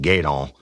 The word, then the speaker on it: Gueydan: at the Barn Lounge in Gaydon, Louisiana. And that's spelled Gueydan, Louisiana.